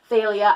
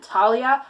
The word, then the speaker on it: Thalia: I also really liked Thalia, and just to clarify, I've heard it pronounced Thalia, Thalia, and Talia. I'm going to go with Thalia.